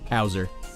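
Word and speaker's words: Hauser: I know Howser spelled H-A-U-S-E-R, but come on.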